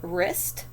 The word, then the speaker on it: wrist: me either down here we have wrist wrap and ren again a w in any of those no so these are